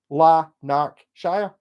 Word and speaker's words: Lanarkshire: opposed to Shire lanarkshire bet you don't present it the way it's spelled yeah very much La knock Shire lanarkshire what's up oh Stevie